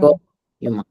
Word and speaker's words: corps humain: Corps humain.